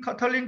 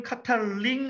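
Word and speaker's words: Katalin: 김은명 선생님 카탈린 카리코, 조현주 선생님 카탈린 카리코, 김영환 팀장님 카탈링 아닌데 카탈린인데 어쨌든 네, 세 분이 쓰셔주셔서 네, 그렇게 할 수 있죠.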